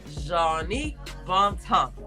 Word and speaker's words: Jongnic Bontemps: This story is about Jongnic Bontemps.